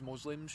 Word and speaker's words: Muslim: people musl to become musim so great at least pronounce it right what Muslim mus Muslim Muslim Muslim why is it does it matter yeah that's how it's pronounced Muslim then uh yeah these